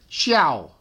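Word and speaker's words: 孝: We pronounce this xiao, being dutiful to older people.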